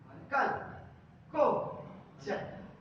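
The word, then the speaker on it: chalcogens: are also known as कैल्कोजेंस इनको कैल्कोजेंस भी कहा जाता है मतलब जो प्रोनाउंसिएशन होती है आपकी इसको प्रोनाउंस किया था कल कल को जन ठीक है ना जी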